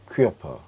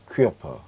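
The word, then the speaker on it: Körper: 퀴어퍼, 퀴어퍼, 얘는 몸이란 뜻이에요.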